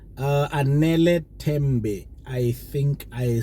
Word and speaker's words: Anele Tembe: Anele Tembe. I think I said it right. It's Anele Tembe.